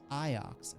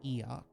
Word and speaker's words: Iox: dock on IO oh it's pronounced iox okay I was saying like EO also I do like